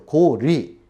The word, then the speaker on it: 고려: 그렇기 때문에 앞으로도 고구리, 또 고려도 마찬가지죠. 고리, 나라 이름이기 때문에 이렇게 불러야 될 것 같습니다.